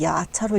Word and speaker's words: 야차: 발음은 야차로 읽어야 되죠. 불교 영어니까 야크샤의 음역을 한 약차로 쓰고 야차로 읽어 줍니다.